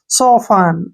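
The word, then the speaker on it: soften: टी एन आ गया टी के बाद न आया तो टी को साइलेंट छोड़ देंगे एसओ को क्या लिखेंगे श ऐसे ही स और इसमें एफ का उच्चारण फ फ हो जाएगा ठीक है ना ई एन का उच्चारण न हो जाएगा टी हमने पढ़ना ही नहीं है सोफान सफन क्या पढ़ेंगे सफन सफन क्या होता है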